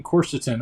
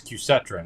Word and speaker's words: quercetin: I've been taking quercetin I thought it was cusetron I've been saying it wrong I say things wrong all the time I'm like Greg on Dharma and Greg I get all the words wrong uh so quercetin I thought I really thought that was qcetron but I can see why it's not now because there's no R after the C anyway uh chorus chorus